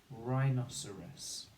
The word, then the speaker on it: rhinoceros: row spelling we can write it with the syllables okay so i write se rhinoceros the second spelling is just the r on